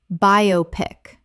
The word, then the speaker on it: biopic: nanotechnology nanotechnology Word 83 biopic Common mispronunciation biopic Correct pronunciation biopic Three syllables It is short for biographical picture, not a single word.